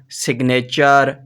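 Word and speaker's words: signature: चे की आवाज आएगी अगर टी के बाद यू आर ई होगा तो आवाज चे की आएगी जैसे मसलन देखते हैं जी जैसे डिपार्चर कैप्चर सिग्नेचर एडवेंचर तो यह तो था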